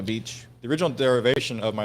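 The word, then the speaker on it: Bietsch: give me your thoughts it's German so the original not spelled like a beach the original derivation of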